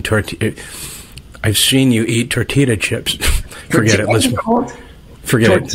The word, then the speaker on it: tortilla: I've seen you eat tortilla chips. Forget it. Listen. Forget it. No, Patrick, it's tortilla. It's Spanish. You don't pronounce the right. L. The L.